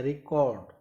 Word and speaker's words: record: B, answer क्या होगा, verb, क्योंकि उसने रिकॉर्ड सेकंड पार्ट पे फोकस किया, रिकॉर्ड.